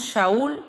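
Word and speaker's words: שאול: Y el otro nombre, que era su nombre hebreo, era Saulo, que pronunciamos Shaul y significa el que pregunta.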